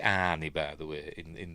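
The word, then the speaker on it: Arne: Johnson it was just they do pronounce it anie by the way in in the film it was just the beginning.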